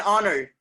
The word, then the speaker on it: honor: Same case, an honor, an honor, honor, honor. The sound is coming what? Honor, honor, honor. Sound is coming what? O.